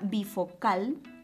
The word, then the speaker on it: bifocal: ser una palabra grave la palabra bifocal lleva la mayor fuerza de voz en la última sílaba eso quiere decir que se clasifica como una aguda la palabra tiralíneas es